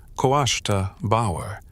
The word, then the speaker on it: Cóiste Bodhar: The name itself Koe Bodhar pronounced Kawashta Bower carries a linguistic dread.